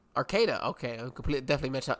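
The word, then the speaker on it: Arcata: it there you go and how do you pronounce it it's Arcada Arcada okay I complet definitely me messed that one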